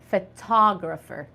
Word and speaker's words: photographer: English word it is it sounds a little different it is called photographer photographer the word the